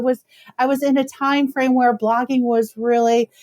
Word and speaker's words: Thyme: How funny because time, just for the listeners benefit, is spelled how? Oh, it's t h y m e. Yes. Thank you. Love it. So there's your food reference, but time with the hym.